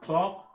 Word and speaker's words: talk: On ne va pas prononcer elles dans talk, almond, salmon, palm, yolk, balm, walk and shark.